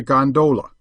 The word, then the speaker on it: gondola: known amongst the fraternity as a gondola with the second syllable emphasized and pronounced long but to return i